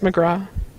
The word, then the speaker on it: McGrath: her name Katie McGrath it's pronounced McGraw are you kidding me